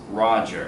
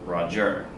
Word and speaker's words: Roger: So the name is Roger, it's not Roger. So, and you can hear that naturally in the name. So if you have a stressed syllable followed by an unstressed syllable, what is that? Trochaic. Trochaic, right? Right here. So the example was piping down the valleys wild. Piping down the valleys wild. So Roger is trochaic.